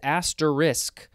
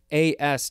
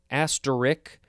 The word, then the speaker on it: asterisk: to say I get really frustrated when people mispronounce this word. It is asterisk, A-S-T-E-R-I-S-K. It's not asterisk or some other way to pronounce it.